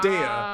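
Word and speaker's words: Daiya: Dea. That's the pronunciation.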